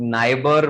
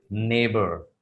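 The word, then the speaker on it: neighbor: पड़ोसी को इंग्लिश में बहुत सारे लोग नाइबर प्रोनाउंस करते हैं। तो what should be the actual pronunciation for that? Sir नाइबर इज the wrong pronunciation. Actually नाइबर नहीं होता, दैट इज नेबर।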